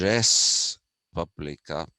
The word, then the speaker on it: res publica: called a publica okay in latin usually the s is pronounced it's not like in french where you would say this is republica okay so it is res publica so the title apparently